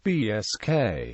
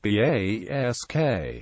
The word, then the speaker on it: Basque: The English word Basque may be pronounced BSK or BASK and derives from the French Basque, which is derived from Gascon Basco, cognate with Spanish Vasco.